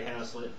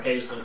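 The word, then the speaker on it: Hazlitt: and one lesson by henry haslet or hazel depending on how you pronounce it h-a-z-l-i-t-t you can look this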